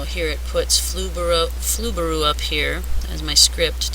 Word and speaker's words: Flubaroo: going to be the grading script it's called flaru so that's spelled f l u b a r o o weird word but it works wonderfully uh flaru is free and it helps teachers grade stuff